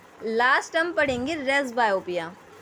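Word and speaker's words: presbyopia: Last हम पढ़ेंगे race बायोपिया। Press बायोपिया मत पढ़ना, पी साइलेंट होता है इसका।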